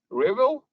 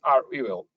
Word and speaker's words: REvil: funny fact is that the win answer is rebel but in fact uh the group or this ransomware as a service program it should be pronounced as are we will uh because even their representatives i think many